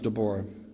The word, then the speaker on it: Deborah: I'll I'll I'll use Deborah or if you're Hebrew Deborah so Deborah Deborah same person just pronounced a little differently and God chooses a